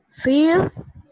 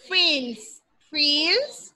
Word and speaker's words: feels: Brian feel confused. Brian feels, porque tienes que pronunciar la S, feels confused.